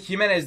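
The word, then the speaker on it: Jiménez: Jimenez diye okunuyor. Jimenez diye, fark etmez. Jimenez diye okuyalım.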